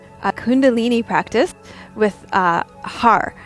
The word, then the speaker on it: har: practice with uh har so h-a-r and if you can roll your r's then that's great like i'm not really that very good at it so um if you can roll your r's you'll do ha with the rolled r um you're just going